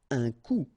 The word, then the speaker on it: coup: Un coup. And then un coup. Alright, so you can see that you get this final P here, but then you don't pronounce it. And last, un coup.